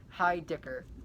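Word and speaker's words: Heidicker: for the common universe by christian j heidel hi dicker that's how it's pronounced now this one is about a boy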